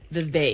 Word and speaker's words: Vivek: Well, first of all, he says that his name is pronounced Vivek. Vivek. Like okay, thank cake. You. Cake. He says it like cake. It's Vivek. Okay.